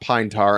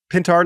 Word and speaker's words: Pintar: And who's Andrew Pintar? Not Andrew Painter. Andrew Painter, a pitching prospect. Not very available. Good. Not available with the Phillies. It is pronounced Pintar. It is not Pinetar, unfortunately.